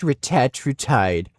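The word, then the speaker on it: retatrutide: This guy is such a Retatriide. It's pronounced retatide.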